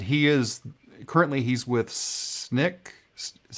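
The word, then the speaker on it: Snyk: of DevOps and he is currently he's with snick is how you say it's Nick probably let's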